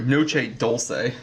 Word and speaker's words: Noche Dulce: Noche Dulce.